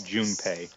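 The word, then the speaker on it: Junpei: we did this actually said it's june pay june okay yeah that makes sense so his name rhymes with june kind of june and june pay oh that it doesn't rhyme but yeah i guess it contains june yeah i i don't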